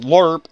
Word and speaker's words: LRRP: So, a LRRP unit, Lima Romeo Romeo Papa, pronounced LRRP, L-U-R-P, is a long-range reconnaissance patrol.